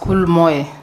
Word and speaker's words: Moe: betric AOL Moy yes Mr Speaker have I pronounced your name correctly yeah it's called be as Moy MO is correct welcome once again you will